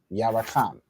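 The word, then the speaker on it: Yarakam: As Kayla said, you're gonna have ya separate, ra separate, and then the ka and the ma joined together to make kam, ya ra kam. That's the 3 syllables.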